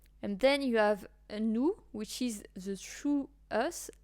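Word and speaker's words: nous: so new is us so you don't pronounce the S at the end so it's new and not new and then you have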